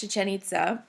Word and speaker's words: Chichén Itzá: to be accents I'm sorry but it is pronounced chichén itzá that's their capital city and the mayans actually